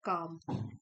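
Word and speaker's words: calm: Instead इसके बजाय we must take काम। एल साइलेंट है।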